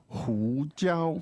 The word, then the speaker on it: 胡椒: Hu jiao.